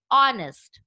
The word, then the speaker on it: honest: Honest. Here, honest spell Honest, but here also H remains silent and we pronounce with vowel sound O.